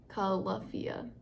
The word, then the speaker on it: Califia: jazzed about um this is holiday nog by califia califia call luffia is how it's pronounced on here that's weird um anyway their